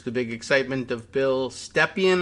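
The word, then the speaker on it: Stepien: big excitement of bill stephen i think they were pronouncing his name stephen not present yesterday and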